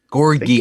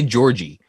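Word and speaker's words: Gorgui: Gorgie Jang, right? Gorgie Jang. Gorgie. I always want to say Georgie.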